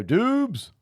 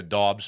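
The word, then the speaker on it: Doubs: Do you know that his name is actually Romeo Dobbs, though? All right, fine. Yeah, it's We've been Dobbs. saying it wrong I've been saying it wrong for years. I just learned this. I like it. It looks like Romeo Dubes.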